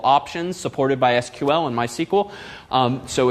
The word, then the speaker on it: MySQL: called MySQL once and they do in fact pronounce themselves uh my SQL not my SQL which frankly I find silly it's a lot faster and fewer syllables to say my sequel but uh it's their